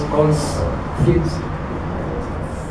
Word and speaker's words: consciencia: Lo voy a pronunciar como lo pronuncian los españoles. Una cosa es conciencia y otra cosa es consciencia. Eso lo vamos a explicar en su momento.